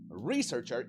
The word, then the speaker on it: researcher: Researcher y no researcher. Porque como es el sustantivo otra vez, énfasis en la primera sílaba.